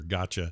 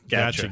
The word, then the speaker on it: Gacha: It's spelled Gacha. Not like got you or gotcha. No, gotcha. Gacha games.